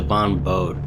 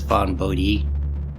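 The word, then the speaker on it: Vaughn Bodē: And this is the strange thing about, I always pronounce it Von Bode, but I was reading, I believe, on his Wikipedia page that I don't know what you call it, circumflect, whatever, above the E in his last name, he put there deliberately to inform people to pronounce the hard E, so I guess it's Von Bodhi.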